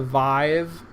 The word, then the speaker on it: Vive: I believe it is called the Vive in a way that rhymes with five, although I would never look at that word and think Vive.